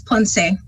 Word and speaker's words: Ponce: I'm sorry, I don't know how to pronounce her last name. Right. Aloha kako, it's Ponce.